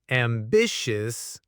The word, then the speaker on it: ambitious: I would consciously check my pronunciation of ambitious, making sure I'm getting the sh sound and the correct syllable stress.